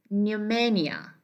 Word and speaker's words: pneumonia: We have pneumonia. It is pa, then N. Okay, so it is said to be pneumonia, pneumonia.